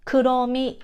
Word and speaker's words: Kuromi: English, R, right, but in Japanese we don't have an R sound, we always use L sound.